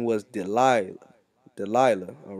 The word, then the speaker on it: Delilah: Del Dalayala. Dalay Dalayala. Yala. Okay, Delilah. All right, that's how you say it in the Hebrew.